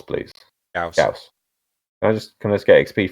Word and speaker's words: Gauss: I said that I know it's supposed to be called Gauss, but I want to call it Gorse, because Gorse sounds cooler. It does not. It does. Gauss just sounds like you sneezed. The game pronounces it Gauss.